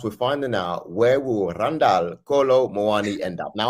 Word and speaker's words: Randal: They called him Randall. So yeah, you got to roll the R. Randall. Maybe I'm overdoing it a little bit, but yeah.